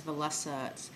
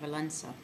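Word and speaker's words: Wałęsa: And it was led by a man named Lech Walesa. And it looks, when you spell it, it's Walesa, but you don't pronounce that as Walesa. It sounds more like an N in there, Walesa.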